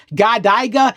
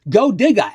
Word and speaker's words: GODYGA: In case you were wondering how it's pronounced, it's not GODYGA, it's not GODYGA, it's GODYGA, as in here's a shovel, go dig a hole.